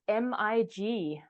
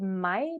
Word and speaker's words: mig: that now, like, just the word for me, for instance, is mig, but it is spelled MIG, which in any other sort of situation would be either mig or me, but we pronounce it mai because this is how it has developed naturally. And so the written language,